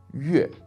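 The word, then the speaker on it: 月: And I guess the most common word for this would be with a fourth tone, yue, yue, which means month in Chinese.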